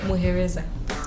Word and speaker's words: Muhereza: Muhereza. Yeah, that's how it's pronounced.